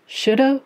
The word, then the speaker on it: should: How did they end up with that silent L in there?